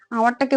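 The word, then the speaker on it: hour: কারণ যখন আমরা এই আওয়ারটাকে উচ্চারণ করি, এই এইচ এর উচ্চারণটা কিন্তু হয় না। কারণ আমরা কি উচ্চারণ করি বলতো? এটাকে আমরা হাওয়ার উচ্চারণ করি না, আমরা এটাকে কি উচ্চারণ করি? আওয়ার উচ্চারণ করি।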